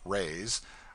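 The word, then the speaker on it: reis: the lady hails from the portuguese pennies or reys pronounced rays are prodigious it takes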